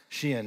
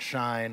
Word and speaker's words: SHEIN: which is Shen and it is pronounced Shen not shine or other other words